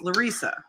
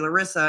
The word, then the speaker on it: Larissa: David, my name is spelled Larissa. It's pronounced Larissa. When we were dating, David kept calling me Larissa, and finally some people